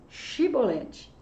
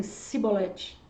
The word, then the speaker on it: chibolete: No seu falar, esse som de ch saía com som de s. Então, talvez eles falassem cibolete.